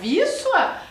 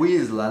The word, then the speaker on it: Wisła: Mas essa questão da nomenclatura, a gente só sabe que pronuncia Wisła Porque a gente foi perguntar, né, professor André? Exatamente. Porque senão a gente ia ler conforme tá escrito ali. Como eu li primeiro para vocês, né? O tal do Wisla, né? E se lê Wisła.